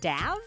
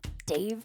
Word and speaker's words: Dav: When I first read Dav Pilkey books to my son, I was a little confused. His name is spelled D-A-V. I was like, is it Dav Pilkey?